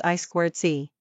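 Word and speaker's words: I²C: or inter integrated circuit sometimes pronounced as I squared C.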